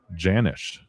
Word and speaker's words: Janisch: It's pronounced with a hard J. Janisch.